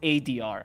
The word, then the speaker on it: 4DR: It's pronounced ADR.